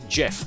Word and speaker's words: GIF: It's pronounced Jeff.